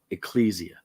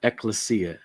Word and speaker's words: Ecclesia: your state is it is defined as an Ecclesia or eklesia depending on your preference of pronunciation but Ecclesia or Ecclesia